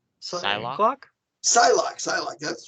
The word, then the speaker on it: Psylocke: Psylocke.